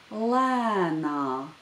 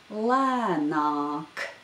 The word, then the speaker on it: lēnāk: Now the first word of the saying, and that word is lēnāk. Lēnāk. In the first syllable of this word, there is the long vowel a, which is pronounced broad in this word.